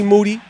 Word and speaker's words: Moody: in here with G moody last name rhymes with duty the three time podcast